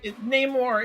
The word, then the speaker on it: Namor: They're rolling the R. Yeah, Namor.